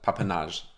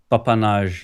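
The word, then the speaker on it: papanași: And you pronounce it what? Papanage. Papanage, yeah.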